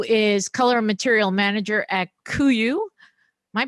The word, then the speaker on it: KUIU: Zack, who is Color Material Manager at KUIU. Am I pronouncing that right?